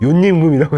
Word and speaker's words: 요임금: 아, 이게 옛날에 우리나라 서당에서는 요인금이라고 발음을 안 하고 사이옷을 넣어서 요임금이라고 했습니다.